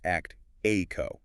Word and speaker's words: Actiqo: For you listening that is spelled actiqo and pronounced actico.